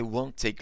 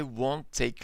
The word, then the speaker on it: won't take: So here, we don't pronounce letter T twice.